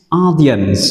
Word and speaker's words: audience: tôi đã nhắc thì từ này đọc là S, audience, trọng âm rơi vào âm thứ nhất.